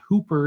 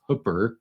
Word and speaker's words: Hooper: In 2008, a farmer in Hooper, Utah, and that is the correct pronunciation for those of you who don't know. It's not Hooper, Utah. It's Hooper, Utah, up near Ogden, Weber County, right against the Great Salt Lake.